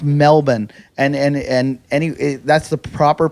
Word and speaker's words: Melbourne: It's pronounced Melbourne, and that's the proper pronunciation.